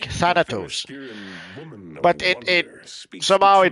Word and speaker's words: Thanos: had to specify that no no Thanos is the the actual way you pronounce a name and it's been like that forever because it comes from the Greek Thanos but it it somehow